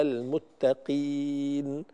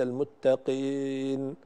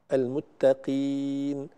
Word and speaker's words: المتقين: الياء أيها الإخوة والأخوات دائما نخفض فيها الفك السفلي، الياء المدية، على المتقين وليس المتقين، المتقين، سميع عليم بهذا الشكل، فينبغي أن نحافظ على خفض الفك عند النطق بالياء المدية.